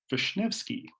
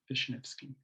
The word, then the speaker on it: Vishnevsky: trail maintenance work, Julian Vishnevsky. And I know that that's how his name is pronounced because I asked him, Vishnevsky.